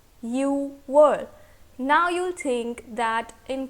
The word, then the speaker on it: 유월: Alright, now comes June, and June in Korean language is 유월. 유월.